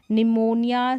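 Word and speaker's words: pneumonia: राहत है क्या एन फिर देखिए यहां पर है निमोनिया साइकिक और साइकोलॉजी स्पेलिंग में आप ऐसे ही पढ़ सकते हैं जो पी है वह साइलेंट है निमोनिया साइकिक और साइकोलॉजी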